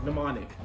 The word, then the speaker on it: mnemonic: we'll talk about min how do you say that oh demonic mnemonic mnemonic mnemonic code words i was